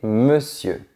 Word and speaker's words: monsieur: Petite curiosité, à l'époque, sieur signifiait monsieur. Maintenant, reste à savoir pourquoi on ne prononce pas ce mot comme il s'écrit.